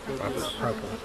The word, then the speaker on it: propolis: Or propolis, depending on where you're from. Depending on if you took Every beekeeper pronounces it different, you know, and they'll correct you. Their way is the right way. it's not an omega. Okay. It's a long O.